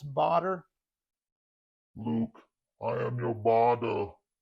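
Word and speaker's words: Baader: I mean, I've always said Bader, but it is two A's, and I think it's German, so maybe it's Bader.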